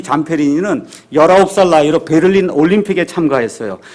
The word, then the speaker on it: Zamperini: 잠페리니는 ZAMPERINI 이렇게 돼 있으니까 여러분이 유튜브나 아니면 위키피디아 백과사전 가서 보시면 이 미국 사람들은 잠페리니 이렇게 발음하는데 그냥 잠페린이라고 제가 이야기하겠습니다.